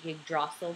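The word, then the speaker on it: Yggdrasil: g d r a s i l I'm pronouncing it yrel because that's how I want to its branches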